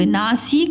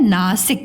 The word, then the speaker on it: नासिक: नासिक, एक जगह का नाम है ये, नासिक, नासिक नहीं होती है, नासिक होती है, नासिक। इसकी उच्चारण कम टाइम लग रहा है, जब उच्चारण में कम समय लगता है तो छोटी लग जाती है, ठीक है।